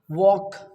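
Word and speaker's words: walk: ए एल F half W ए एल के वॉक टी एल के टॉक बी ए एल एम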